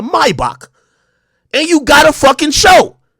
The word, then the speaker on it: Maybach: because you got a Maybach or let me say it correctly a my box and you got a